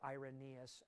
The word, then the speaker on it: Irenaeus: commentary input in it now one guy was irenius or irenaeus actually is how it's pronounced ironeous was a um second century he